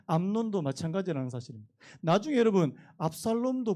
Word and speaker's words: 암논: 암논, 발음 잘해야 됩니다. 이게 암놈이 될 수 있는 암논.